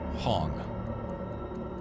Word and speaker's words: Hong: Hong. Like H-O-N-G? Spell it. Yeah, like Hong Kong, but Hong.